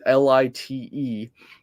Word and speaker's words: Lite: And light, now that's the American pronunciation of it, but light is Lite, is Norwegian for small.